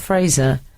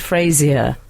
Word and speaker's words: Fraser: this is from 611 I used to work in House of Fraser mhm and it annoyed me how people called it House of Frasier oh yeah well I once